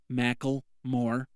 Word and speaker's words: Macklemore: Macklemore. That's how you pronounce it.